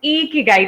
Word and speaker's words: ikigai: that it is pronounced iki guide has to make you smile otherwise you're not saying it right present I think that's